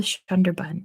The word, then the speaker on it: Sundarban: I know the Sundarban is how you say it because I did a